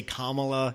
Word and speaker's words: Kamala: be disrespectful if I can learn to say Kamala you can learn you can learn you you